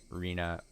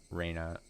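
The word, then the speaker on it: Rena: over that pronunciation but calling Reena Raina Raina Reena always gets me I agree with the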